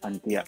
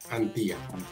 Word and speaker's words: Antía: Ahí pueden encontrar la información del abogado Antía. ¿Estoy pronunciando su apellido correctamente? ¿Cómo lo pronuncia? Sí, así es, Gerardo. Antía. Pone como si fuera un acento sobre la I.